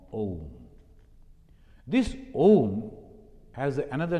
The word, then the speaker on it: Om: And when you are pronouncing the Ma, you are closing the lip without moving your tongue, without beating anything, sound is coming. A, U, Ma, Om.